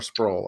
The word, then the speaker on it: Sproul: Is it Sproul or Sproul? I'm sorry. Sproul. It rhymes with towel.